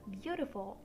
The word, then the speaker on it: beautiful: You can see we pronounce the 3 first vowels E, A, U as U by saying bu. So that counts as one syllable here. And for the rest of the word, we pronounced the I and the U. So beautiful has 3 syllables.